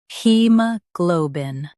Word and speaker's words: haemoglobin: he ma glo bin he-mo-glo-bin In US, stress glo. In UK, stress lo.